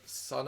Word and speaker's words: Sunn: it is of course monoliths and dimensions by sun this band absolutely the six studio album by the avant-garde drone doom band wondering how to pronounce it are you one of those people it's pronounced son it's that simplest that so that's a dig